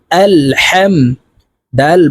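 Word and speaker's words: الحمد: জবর হাম আল হাম এই হাকের মধ্যখান থেকে উচ্চারণ হবে কারণ হার মাখরাজ হলুকের মধ্যখান থেকে হবে আলহাম দাল পেশ দু আলহামদু লাম লাম জের লিল লাম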